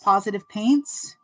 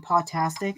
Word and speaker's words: Positive Paints: license from Kelly at positive paints now that I'm saying it right I kept calling it potastic and I'm just dumb